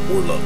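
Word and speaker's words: Worluk: Except it's spelled like W-O-R-L-U-K. Warlock.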